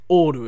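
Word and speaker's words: オール: Oru. It's like the Japanese, if you throw like a Japanese like intonation or accent on the word all, just oru.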